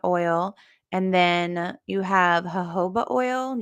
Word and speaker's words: jojoba: And then you have jojoba oil. You don't pronounce those J's, you guys.